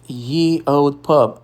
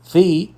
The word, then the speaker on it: ye: O veredito do professor Dylan é: pare de dizer ye, soua ridículo para qualquer historiador ou linguista que entende a alma do idioma. A pronúncia correta, histórica e respeitosa é e sempre foi the old.